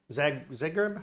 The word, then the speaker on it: Zagreb: Zagreb?